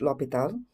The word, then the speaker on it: L'Hôpital: Uh it's a French word. Uh so it's pronounced Lial.